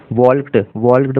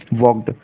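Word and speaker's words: walked: यहाँ पर फ्रेंड्स इसको, ये शब्द है जो बहुत सारे स्टूडेंट वॉल्क्ड पढ़ लेते हैं, जो कि गलत है। इसका सही प्रोनाउंसिएशन है वॉक्ड, WALKD, वॉक्ड।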